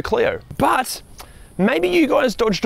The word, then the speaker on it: Clio: delicacies the renault clio or as the french pronounce it le renault cleo but maybe you guys